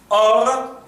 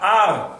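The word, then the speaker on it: אור: Or, it is or, not ar, not ur. Because that cholam, that vowel, is there to describe the soul of light.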